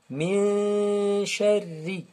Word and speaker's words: شَرِّ: Alors, ra ici, c'est pas comme l'aura de birabbi. Ici, elle est un peu fouilletée. Sharri. On ne dit pas min sharri. Non, on dit min sharri. Alors, l'aura ici, elle est fouilletée. Muraqqaqa, en arabe.